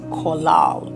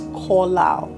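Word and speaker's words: קָלַל: The first time it was used in Genesis is the Hebrew word kolal. It's spelled as Qallal, but it's pronounced as kolal.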